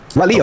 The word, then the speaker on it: Raleigh: I've been to Raleigh. Raleigh.